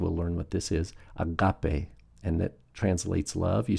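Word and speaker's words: ἀγάπη: Agape. Agape. So notice the accents on the second syllable. Agape.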